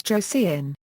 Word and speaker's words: Joseon: In contemporaneous Chinese records, it was written as Eoe, which is pronounced in modern Korean as Joseon.